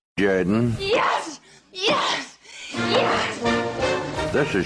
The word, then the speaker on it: Jordan: You're listening to It's Pronounced Jordan with Jeremy Henderson. This is Shug Jordan, coach of the Auburn Tigers. Say what? No. It's pronounced Jordan. Yes! Yes! Yes! This is Shug Jordan, football coach of the Auburn Tigers.